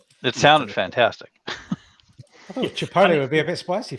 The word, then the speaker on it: chipotle: Is it chipolate sauce? Is that how it's pronounced? Yeah. Chipolate sauce. Chipotle. Chipotle sauce, and it had cheese